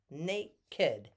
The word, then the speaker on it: naked: of the title naked this is the one time when you see that Ked would be pronounced Ked Nate kid why do I bring